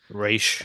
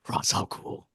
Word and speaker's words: Ra's al Ghul: But Or like they all call him you is Raish I think it's besides race in this. the games, yeah. Or it's Oh, is Raish it? Okay. everywhere else. Yeah, that's the proper pronunciation.